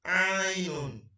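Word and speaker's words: عين: And this is Ainun, Ainun. And the name is Ain, just as if you are pronouncing I or I, but the name is Ain in short form.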